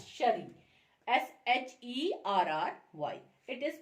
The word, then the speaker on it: Cherie: वैसे ही CHERIE, that ये जो CHERIE इज प्रोनाउंस्ड एज शरी, SHERRY, इट is pronounced as शरी.